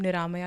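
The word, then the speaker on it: Niramaya: go by the name Naya yoga so so check me out on Instagram spell it yes it's n i r a m a y aore yoga Naya yoga Naya means disease free oh oh interesting okay guys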